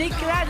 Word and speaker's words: éclade: éclade. Éclade. Rien à voir avec une éclate de Non, c'est moule. pas éclate. C'est une éclade.